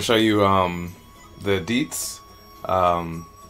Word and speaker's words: dizi: show you um the deets um spell d-i-z-i but chinese they it's pronounced deets um are pretty much